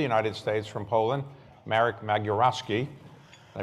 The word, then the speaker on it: Magierowski: We're very pleased to have our conversation today with the ambassador to the United States from Poland, Marek Magierowski. Did I pronounce that correctly?